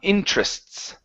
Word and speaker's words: interests: So um interests interests interests. Okay. Uh one more time. Now one one thing here is we do not want to pronounce the e there in the middle.